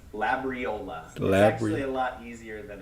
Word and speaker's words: Labriola: so it was pretty cool go ahead and pronounce your last name the phonetic sure it's labriola actually a lot easier than it looks but